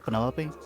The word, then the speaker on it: Penelope: short for Penelope? Officially, yes, but I never can be bothered with all 4 syllables of it.